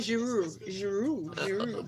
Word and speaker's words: Giroud: We shouldn't pronounce the last word in the last Isha letter. Olivier Giroud, just pronounce it. It should be Giroud.